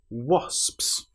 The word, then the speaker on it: wasps: So, wasps. Now, this word is quite hard because you have the O when it looks like it should be a but it is O is the correct pronunciation.